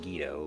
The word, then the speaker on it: Guido: similar experience guido stacking guido stacking however you want to pronounce it i've heard it's technically pronounced guido but um yeah got